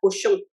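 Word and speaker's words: Cauchon: acusación, que se llamaba cochon. Cochon en francés es cerdo, pero claro, es un alcance de nombres, porque en verdad es cochon, pero se escribe de distinta manera del cochon de cerdo, pero es chistoso, así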